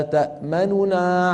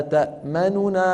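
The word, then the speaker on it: تَأْمَنَّا: أعيدها: ما لك لا تأمننا على يوسف. إذن هذا اسمه الروم. بالروم أيها الإخوة يكون النطق بكم نون؟ بنونين، لكن النون الأولى صوتها أسرع قليلا من جيرانها وأخفض قليلا من جيرانها.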